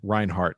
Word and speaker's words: Reinhardt: podcast we've got Ben Reinhardt did I get the your name pronunciation right okay the German uh I in the in the back okay perfect uh so Ben